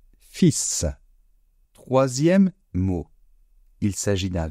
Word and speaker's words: fils: Attention à la prononciation, un fils.